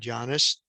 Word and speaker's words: Jannes: And when we look under the word here, we see, yes, the Yod, Nun, Yod, and Samek, and it pronounces the word Jannes, not the basketball player, okay?